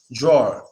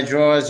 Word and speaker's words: drawer: drawer drawer so it's you can say drawer you could put a little W in there that's fine but it's not needed because as long as you make that a sound properly we're going to know that there's a w following the a draw draw you could